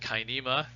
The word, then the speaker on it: cinema: For example, we say the word cinema. It should actually be pronounced kinema, but if you were speaking real Latin, but never mind, enough people say cinema that we give up and say that's fine, whatever.